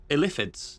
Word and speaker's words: illithid: Or as Baldur's Gate 3 has told us, it's actually pronounced illithids. Illithids.